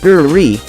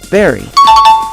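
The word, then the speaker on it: bury: see about that people often mispronounce this word saying with an ever slightest sound of you so that it almost sounds like biry instead of opening their mouths wide and saying barry it's the same pronunciation as barry a college professor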